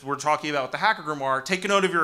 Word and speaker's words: grimoire: So, what is this about a Hacker Grimoire? So first of all, I'm a definitions man. Let's talk about grimoire. I love pronunciation words. I couldn't tell you what that says, but I've been told it's grimoire.